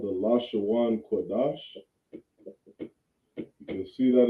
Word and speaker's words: Lashawan: You say lash, right? When you see an A-W-A-N, you say Awan, right? This is how you pronounce this word, Lashawan, all right?